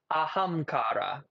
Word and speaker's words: Ahamkara: I want you guys to now Google ahamkara. Ahamkara with a K. You got to spell that.